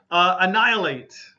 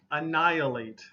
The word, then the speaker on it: annihilate: Annihilate. Annihilate. The H sound is really missing, okay?